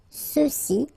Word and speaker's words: ceux-ci: Okay, remember final X is not pronounced, so you get the sound ce, ceux-ci, and then ceux-là.